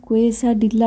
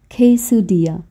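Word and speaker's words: quesadilla: খাবারের নামটা দেখুন আমি লিখে দিয়েছি, দেখে মনে হচ্ছে না এটার নাম কোয়েসা ডিল্লা বা এই জাতীয় কিছু, কিন্তু না, মেক্সিকান প্রোনাউন্সিয়েশনটা না এইরকম, খেইসুডিয়া।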